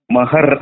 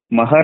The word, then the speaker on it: ಮಹಾರ: ಅದರ ಹೆಸರು ಇನ್ನೊಂದು ಹೇಳಬೇಕಾದರೆ ಮಹರ್ ಅಂತಾರೆ ಮಹರ್ ಎಂ ಎಚ್ ಎ ಆರ್ ಹಂಗೆ ಬೆಂಗಳೂರಿಗೆ ಬಂದು ಇಂಗ್ಲಿಷನ್ನ ಉಚ್ಚಾರ ಮಾಡಿ ಗ್ರಂಥಗಳನ್ನು ಬರೆದುಬಿಟ್ರು ಆದರೆ ಅದು ಈ ಕಡೆ ಮಹಾರಾಷ್ಟ್ರದೊಳಗೆ ಮರಾಠಿ ಒಳಗ ಮಹರ್ ಅಲ್ಲ ಮಹಾರ ಮಹಾರ ಅಂದ್ರೆ ಇಂಗ್ಲಿಷ್ನಿಂದ ಅನುವಾದ ಮಾಡುವುದು